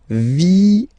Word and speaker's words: vienne: And the rule in French is that when you get this E and a double vowel after, you will have to pronounce this E like E. Alright? So, vienne, vienne, vienne, vienne.